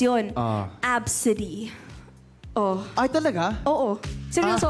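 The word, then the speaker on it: ABCD: Alam mo kung paano mag-pronounce yun? Absidy.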